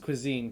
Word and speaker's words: cuisine: It's pronounced cuisine, Kiana.